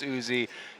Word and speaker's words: Uzi: And because there has been discussion on how to pronounce Uzi, yes, we did get confirmation from player management that that's what he likes to call himself.